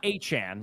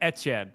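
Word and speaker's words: Etienne: First of all, if you look up how it's pronounced in French, it's like Yeah, it's not Achan.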